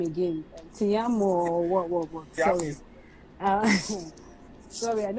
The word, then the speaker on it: Tiamiyu: Tiamiyu or what? Sorry. Sorry, and everybody has in like Tiamiyu, but that's Tamiu. Let's just call him Tamiu. I think the I is silent.